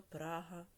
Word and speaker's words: Прага: Розинка подорожував таким містами у Чехії: Прага, Карлові Вари, Ліберець, Кладна, Тепліце. Отже, нам потрібно поставити в них наголос, користуючись довідкою.